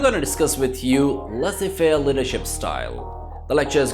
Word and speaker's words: Laissez-Faire: It looks like Laissez-Faire Leadership Style, but Z is silent here, so we normally call it Laissez-Faire Leadership Style.